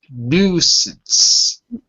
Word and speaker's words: nuisance: pronunciation of a nuisance nuisance Nuance oh really hard it's not hard just ignore the extra letters imagine it's Nu S A NS nuisance nuisance that's correct